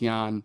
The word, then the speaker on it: Jan: And so essentially you're this one dude and you are your name is Yan Doulski I think his name is like Jan but it's pronounced Yan or Yan.